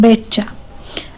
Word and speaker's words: betcha: Third satisfactory, fourth superior, fifth प्रोनाउन्सिंग, sixth betcha, T is silent, betcha.